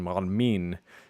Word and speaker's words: معلمين: But the plural marker helpfully takes the stress.